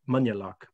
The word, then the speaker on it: Moynagh Lough: into a small lake called moyna lock or locally pronounced manyaloc similarly despite its name